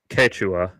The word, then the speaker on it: Quechua: First of all, my fucking white ass is pronouncing it wrong. Yes. It's Quechua.